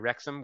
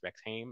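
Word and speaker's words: Rexhame: from Massachusetts um so down near rexam which I would pron pronounce rexim if I didn't know better and I think brand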